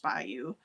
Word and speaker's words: bayou: Many of the cinjuns in Louisiana live on the Mississippi Mississippi Delta Bayou, a marshy inlet running back from a river pronounced bayou.